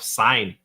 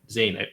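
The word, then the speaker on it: Sein: As you brought up Kevin Samuels, you made me want to bring up the idea of sign. No, is Zane. It's weird how they pronounce his name in the anime.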